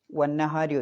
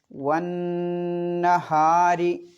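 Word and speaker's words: وَالنَّهَارِ: പിന്നെ ശ്രദ്ധിക്കാനുള്ളത് വന്നഹാരി ഓതുമ്പോൾ വന്നഹാരി ആ നൂനിനെ മടിക്കണം. വന്നഹാരി വന്നഹാരി ഇദാ ജല്ലാഹ.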